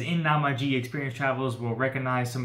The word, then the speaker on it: Namiji: be a fun fun little play of tokaido namaji is the pronounced so pretty they have dolphins bless you